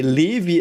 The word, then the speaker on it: Levi: uh, Also, by the way, Levi is the way we Germans pronounce it. A friend of ours does have a child called Levi. It's called Levi, not Levi. Levi. So I will choose the German pronunciation.